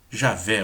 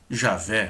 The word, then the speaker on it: Javé: Portanto, a primeira vogal não pode ser O de G-O, ou não pode ser o E de G, mas o A de Já. Este A é no sistema Massoreta uma vogal forte, a diferença do A de Adonai.